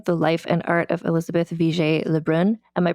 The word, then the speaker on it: Élisabeth Vigée Le Brun: So I'm joined today by Jordana Pomeroy, the author of Daring, the life and art of Elizabeth VJ Leun. Am I pronouncing her name correctly?